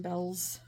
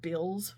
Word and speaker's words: Bealls: A lot of people We'll call it Bills when they first moved down here, but it's Bells, not Bills.